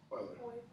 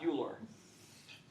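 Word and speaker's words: Euler: do a check here how is this name to be pronounced Oiler Oiler not uler that is like fingernails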